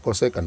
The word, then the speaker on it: kosekan: Bukan kos ya, kosekan bacanya.